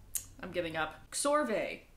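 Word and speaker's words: Csorwe: Scorve? Scorve. Sorwe. Scorwe? How? I'm giving up. Xorve. Rhymes with doorway, KS as in books, so Xorve.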